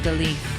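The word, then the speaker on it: Daleth: Comment on Dalith. Dalith, pronounced Da-Lith, transcribed as D, the number 4, meaning door, the luminous intelligence.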